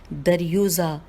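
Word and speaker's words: दरयूज़ा: दाल रे ये वाव जे है, दर यूज़ा, दाल रे ये वाव जे है और ये के ऊपर पेश भी है।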